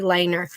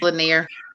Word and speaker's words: Lanier: I'm bringing it on today, Miss Angie Lehner. And Miss Angie, am I pronouncing that correctly? No, ma'am, but it's okay. It's Lanier. Lanier. It's Lanier.